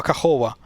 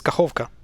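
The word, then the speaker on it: Kakhovka: Everybody just drops it and reads it as Nova Kahova. That's like Nova Kahova. What the? No, it's Nova, not Nova. Sorry, Nova, but that's a minor blunder. But it's Kahovka, not Kahova. Kahovka.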